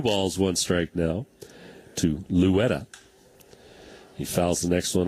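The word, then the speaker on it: Loera: his last name because it's spelled l-o-e-r-a so people were like oh lawera but I I don't think that's right two balls one strike now to Louetta he fouls the next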